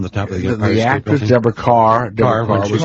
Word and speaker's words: Deborah Kerr: It's Deborah Carr. That's how she pronounced it. Deborah Carr.